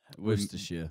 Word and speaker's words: Worcestershire: Now we're Worcestershire. Yeah. Wow, you got that, yeah? Worcestershire, yeah. Americans would be... Worcestershire. It's like Leicester as well.